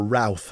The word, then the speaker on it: Routh: Now, Ryan Ruth, or Routh, as we British would pronounce that, he is the guy who was planning for a very long time, apparently, to assassinate Donald Trump.